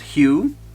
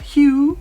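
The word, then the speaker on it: Hjo: We had a quick stop at one of the famous wooden towns called Hugh, and they say "I love Hugh" as in fun word, right? It's spelled H-J-O.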